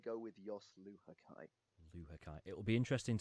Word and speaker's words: Luhukay: Luhukay. So yeah, the end bit is Kai, and then everything before is kind of open to interpretation, I guess.